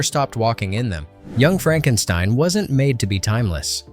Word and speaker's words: Frankenstein: And remember, it's pronounced Frankenstein.